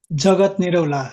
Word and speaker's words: Jagat Niraula: If you could please say your name, first and last name, and spell it, and give your address, please. तपाईँको पुरा नाम भन्नु Jagat Nirula, JAGATNIRAULA, address, same address.